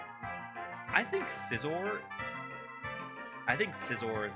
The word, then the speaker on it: Scizor: like 10 that was a dumbass ooh Scizor do you guys say Scizor like scissor but like with a or do you say caor cuz Scyther Sor I think Sor I think Scizor is like the proper pronunciation but caor definitely has some kind of